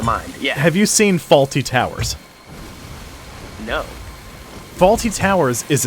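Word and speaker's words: Fawlty: each time yeah so the hotel is named faulty towers it's spelled f-a-w-l-t-y that's their last name and of course that's funny because faulty towers uh but every time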